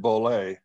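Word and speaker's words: Bollea: terry gene bullet oh i think it's pronounced bollay yes terry jean bollay yeah that one ballet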